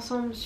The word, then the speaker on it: Anne-Céline: (laughs) U: feel free to go and see everything Anne-Céline does who I called for months Anne-Cécile I'm so sorry AC: Anne-Céline U: Anne-Céline don't say it wrong if you send her